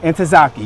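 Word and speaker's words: Ntozake: enough I can't think I forget how to pronounce it SN and tazaki and tazaki yes and so this is a mural that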